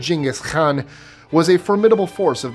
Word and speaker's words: Genghis Khan: Genghis Khan, or as they actually pronounce it in Mongolian, Genghis Khan, was a formidable force of the 13th century.